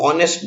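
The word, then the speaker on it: honest: लेकिन अब दूसरा एग्जाम्पल देखिए, इसमें हम ऑनेस्ट बोलते हैं, एच नहीं बोलते। तो लिखने में तो पहला अक्षर व्यंजन है, कॉन्सोनेंट है, लेकिन बोलने में नहीं है। बोलना हम ओ से शुरू करते हैं, ऑनेस्ट, एच साइलेंट है, तो यहाँ पे एन आएगा, अ नहीं आएगा, क्योंकि ऑनेस्ट में हम एच नहीं बोलते हैं।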